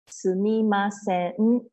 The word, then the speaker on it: sumimasen: Sumimasen. Okay. Five syllable. Sumimasen. Say quickly. It becomes sumimasen.